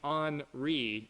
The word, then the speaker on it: Henri: We do have Grace and Henri, and yes, that is how you say it.